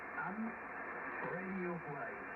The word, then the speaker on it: Ham Radio Guide: Ça s'appelle Ham Radio Guide. Alors on va prononcer à la française, tout est collé.